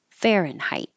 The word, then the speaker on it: Fahrenheit: jurisdiction Fahrenheit fenit I put the mark there after the T to remind you to hold that sound instead of Fahrenheit just hold the t Fahrenheit and this you can